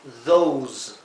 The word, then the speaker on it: those: Hay que pronunciar these y aquí those. La vocal que precede a la S se pronuncia larga, siempre y cuando tengamos otra vocal después de la S, como aquí, ¿verdad?